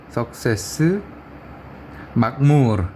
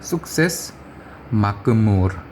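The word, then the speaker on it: Sukses Makmur: 석세스 막무르 이렇게 뭐 아마 표현을 해놓을 겁니다. 근데 그렇게 하면 안 되고 인도푸드 숙세스 막무르 이렇게 해야 되는 거죠. 르는 이제 R 발음입니다. R.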